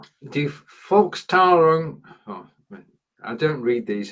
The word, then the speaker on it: Volkstrauertag: So you've got Volk, you've got Trauer and Tag, and the S is purely there so that you can actually pronounce it as one word.